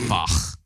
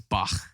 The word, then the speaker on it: Bach: I play Bach.